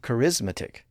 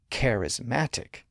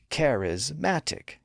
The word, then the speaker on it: charismatic: syllable to the end it doesn't become charismatic it becomes charismatic so in that four syllable version the stress is moved from the second syllable to the first and third that gives us a more balanced stress path pattern up down up down charismatic the same thing happens